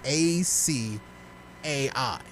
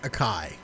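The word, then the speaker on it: açaí: they pronounce it improperly so how would you pronounce a c a i well i know how people pronounce it but it's really pronounced acai i would see that word and i would read it as a kai yeah that's how everyone pronounced it i would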